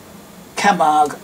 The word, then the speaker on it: Camargue: Camargue, rather. C-A-M-A-R-G-U-E. It's a French sounding word.